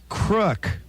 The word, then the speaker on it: KROQ: You pronounce it crook.